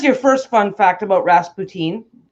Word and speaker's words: Rasputin: first fun fact about rasp poutine so he sounds like it sounds like poutine okay okay Jamie Kelly